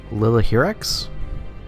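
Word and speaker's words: Lilihierax: shuttles coming and going i believe it is lillahir x is the correct pronunciation for him i have to go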